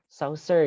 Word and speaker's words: Chaucer: Chaucer ya dibacanya. Ini nanti ada kemiripan dengan pembacaan Saussure.